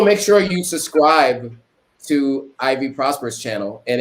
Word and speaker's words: Ivy Prosper: Oh, and also make sure you subscribe to Ivy Prosper's channel, and it's just like how it's phonetically spelled, how it's pronounced.